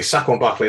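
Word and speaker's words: Saquon Barkley: interested to see how he did because actually sack on barclay instead of tyra kill actually because second barclay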